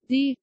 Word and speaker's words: dyr: Dyr. T. So without the T, it just sounds like the word deer.